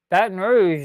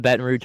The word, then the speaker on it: Baton Rouge: Baton Rouge down.